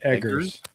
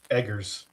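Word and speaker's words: Eggers: Edgars. Edgars. Robert. Like you're you're an egger. You do eggs.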